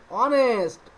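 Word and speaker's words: honest: পূর্বে এ বইছে এন্ড অনেস্ট অনেস্ট এই এখানে এখানে এইচ আছে কিন্তু এইচ এর মত উচ্চারণ হচ্ছে না অনেস্ট উচ্চারণ হচ্ছে অনেস্ট ও এর হচ্ছে ও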